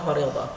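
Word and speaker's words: فريضة: Di situ ada ta, maka disebutnya fardhah, diucapkannya fardhah.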